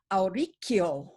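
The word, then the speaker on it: Auricchio: It's Aurichio. Yes, very nice. CH in Italian is a hard C.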